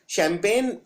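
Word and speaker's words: champagne: एन ई यानी शैंपेन इसमें जी आता है और 90 पर लोग ये वाला जी नहीं लगाते हैं क्योंकि ये जी बोलने में नहीं आता है यह साइलेंट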